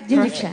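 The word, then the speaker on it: jinrikisha: Did I pronounce it right? Jinriksha.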